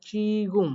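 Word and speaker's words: 지금: শিখিয়েছি এবং সেইটা অনুযায়ী এটার উচ্চারণ হয় চিগুম, জয়সি গয়সুম চিগুম।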